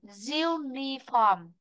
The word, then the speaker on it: uniform: Uniform, uniform, uniform nó có trọng âm rồi, đúng không? Vì vậy trọng âm sẽ rơi vào âm diu, vị trí thứ nhất.